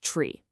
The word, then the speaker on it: trie: And the solution to that whole instant suggestion puzzle, it's the tree. That's spelled T R I E. But, and this is important, it's pronounced tree, just like the one in your backyard.